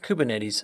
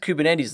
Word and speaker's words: Kubernetes: hence the non-azure name sometimes it's also spelled k8s still pronounced kubernetes though probably because we need